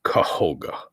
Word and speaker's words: Kohga: This one is spelled Kohga. So he is Koga.